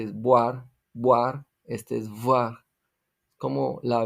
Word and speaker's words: voir: Voir, esto se pronuncia como una B bilabial con los dientes casi cerrados expulsando aire.